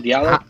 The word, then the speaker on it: Diallo: Diallo.